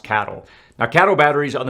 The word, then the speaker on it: CATL: I think it's pronounced cattle.